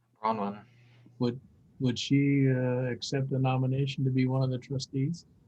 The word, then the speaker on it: Bronwyn: Brownin? Bronwyn. Would she accept the nomination to be one of the trustees? Husband and wife team. Oh, was that a up? You're on mute, Bronwyn.